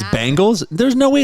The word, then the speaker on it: Bengals: Is it Bengals or Bingles? It's Bengals. With an A? Bengals. No, there's an E, but it's pronounced Bengals.